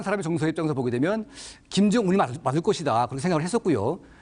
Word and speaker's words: 김정은: 했으니까 김정운으로 이제 했었는데 그 일본 분들이 우리 말을 발음할 때 은 발음이 잘 안 돼서 김정운 이렇게 운 비슷하게 발음했을 가능성이 높다면서요?